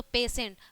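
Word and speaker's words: patient: में क्या है कि टी के बाद ई और आई आया है इसके अकॉर्डिंग तो क्या है यहां पर भी इसका जो प्रोनाउंस है वो क्या हो गया बड़ा स हो गया है ठीक है तो पेशेंट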